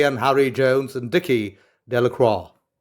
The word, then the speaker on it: Delacroix: harry jones and dickie delacroix villagers pronounced this name de la croix eventually made a great